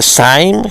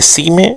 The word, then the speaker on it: Syme: Se se escribe Syme. Hay gente que le dice Syme, gente que le dice Syme, yo le voy a decir Syme.